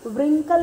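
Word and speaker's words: wrinkle: देखो हम रिंकल को कैसे रीड करेंगे, रिंकल नहीं बोलेंगे, क्या बोलेंगे, रिंकल, because W is silent letter.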